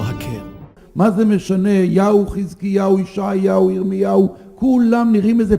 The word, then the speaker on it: חזקיהו: Agora, observe o mesmo nome de Ezequias sendo pronunciado no hebraico legítimo dentro de Israel entre judeus. O link destes vídeos estão no primeiro comentário fixo. חזקיהו עולה לשלטון בשליש.